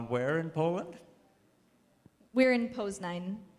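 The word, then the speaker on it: Poznań: in poland we're in pose nine pose nine okay and that's the proper pronunciation obviously i've been seeing pause and then in the news and stuff like that so well andrew says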